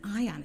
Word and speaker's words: Ian: Now, if anybody watched that, Ian Mitchell, I always say Ian, it's Ion. It's spelled like Ian, but it's Ion.